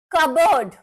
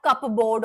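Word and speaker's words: cupboard: कबर्ड, P silent. कबर्ड, कबर्ड, नॉट कपबोर्ड और whatever. P नहीं बोला जाता.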